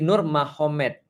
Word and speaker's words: Nurmagomedov: Jadi tulisnya magomet tapi bacanya Mahomed kan gitu kan ya. Jadi Nur Magomedov itu jadi Nur Mahomed.